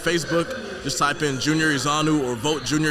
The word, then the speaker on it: Ezeonu: if you have facebook just type in junior izanu or vote junior izanu on facebook my last name is spelled e-z-e-o-n-u junior is j-u-n-i-o-r so vote junior